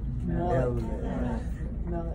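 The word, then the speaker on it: מֶלֶךְ: But see, that Shabba is also what? Silent. That Shabba is silent. And how about, so there's two syllables, right? Two syllables. How about blessed? Baruch. And now the Shabba at the end of that is silent. But it connects those two, so it's only two syllables.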